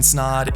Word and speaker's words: Snaadt: what's going on everybody my name is snod it rhymes of OD and you're listening and watching